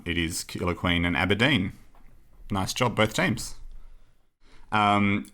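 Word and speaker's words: Aberdeen: I would say maybe Aberdine is the third City okay well that's good because it rhymes with killer queen which I believe is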